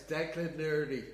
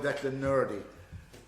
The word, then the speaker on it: Declan Nurney: It's Declan Nurney, and if you don't say it right, you're in trouble. I call him Declan Nurney, which kind of upsets Frank a little bit.